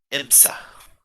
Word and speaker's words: Imsa: Named she insists to go by the name Green Imsa. Green Can you please spell that?